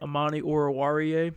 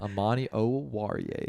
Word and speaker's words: Amani Oruwariye: And then we have this other guy named Amani Oruwariye, also very good. Hell yeah, But- you pronounce that name perfectly. Hey, he's on my team. I gotta know, man. Amani Oruwariye.